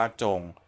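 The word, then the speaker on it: 中: ก็ จะ เป็น ตัว อักษร อ่าน ว่า จง ซึ่ง หมาย ความ ถึง ศูนย์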